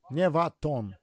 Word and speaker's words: Nevaton: No, Neva. Nevaton.